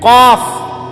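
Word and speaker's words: ق: কারণ বাংলাতে এ কফ এটার কোনো অক্ষর নাই। ছোট কাফের অক্ষর আছে ক, মানে ছোট কাফ যেটা, সেটার জন্য কি আছে ক, ক, ক, খ, এই ক, এটা দ্বারা বোঝা গেল যে ছোট কাফ। কিন্তু কফ এটাই ঠিক আলেম থেকে শিখতে হবে, কারি সাহেব থেকে শিখতে হবে, নাইলে এটা শুদ্ধ হবে না।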